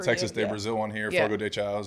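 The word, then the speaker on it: Fogo de Chão: they got the Texas de Brazil one here foro de Chow right we're going not deow we say it wrong perfect I I figured by you guys telling me the pronunciation F show and then he said you have to be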